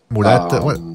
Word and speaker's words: Murata: Murata. Okay, well, you gotta say it like a Spanish. Murata.